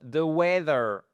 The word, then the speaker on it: weather: The weather is called the weather. We voyez en fait votre première syllabe, elle va jusqu'à là et vous avez une accentuation qui est votre stress sur la première syllabe.